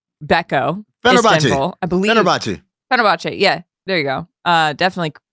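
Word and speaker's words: Fenerbahçe: With the Turkish Euroleague team, Fenerbahce, Beko, Istanbul, I believe. Fenerbahce. Yeah, there you go. Definitely pronouncing that.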